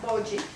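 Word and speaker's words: Boji: B-O-J-I. yeah, B-O-J-I, Bogie.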